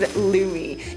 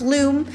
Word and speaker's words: Lume: And that is because of the sponsor of today's episode, Lumi. Not to be pronounced Loom. It rhymes with gloomy.